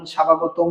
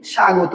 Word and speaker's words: স্বাগতম: স্বাগতম এখানে কি আমরা বলি প্রধান অতিথির আগমন স্বাভাগতম স্বাভাগতম বলি নাকি কি বলি সাগত বলি তার মানে আমরা এখানে কিন্তু ব এর উচ্চারণ একচুয়ালি করি না তাহলে এটার উচ্চারণ কি